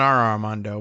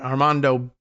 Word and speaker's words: Armando: Colombia's interior minister, Armando, not Armando, but Armando Benedeti said in a social